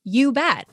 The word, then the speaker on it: Ubet: So according to Mispronouncer, they say Ubet. Huh. Ubet. That's awesome. I know, which I'm like, okay, it does not get any more Wisconsin / Midwestern than you bet.